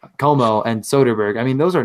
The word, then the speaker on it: Comeau: Comeau? Como. Yeah, it's Como. I always do that because his name ends in U, but it's Como and Soderberg.